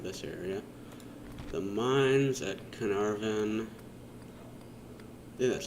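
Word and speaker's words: Caernarfon: money out of this area the mines at carnarvon that's how you pronounce it the mines wouldn't be too bad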